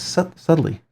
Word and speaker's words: subtly: I don't know uh I think it's because it's pronounced like with a d but it's spelled with a B I guess that's the